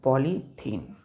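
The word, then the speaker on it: polythene: चलिए, पहला बच्चों पॉलीथीन, THENE, पॉलीथीन। अब ध्यान दीजिए, इसमें बच्चों दो वर्ड है। पहला है पॉली, पॉली प्लस दूसरा है थीन। क्या है? THENE। लेकिन प्रोनाउंसिएशन क्या करते हैं इसका? इथीन। क्या पढ़ते हैं इसको? इथीन। ETHENE। अब यहाँ पर ई नहीं है बच्चों, यहाँ पर ई है, तो पॉली प्लस इथीन जब हम मिलाएंगे तो क्या बनेगा? पॉलीथीन बनेगा। प्रोनाउंसिएशन देखिए, पॉलीथीन, पॉलीथीन, पॉलीथीन, पॉलीइथीन, पॉलीथीन। Clear है?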